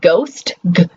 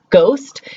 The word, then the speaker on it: ghost: Now, we know when we say ghost, ghost, think about the GH. You never give it an H sound, right? You never go, you're like, g. You just give it the G, the g.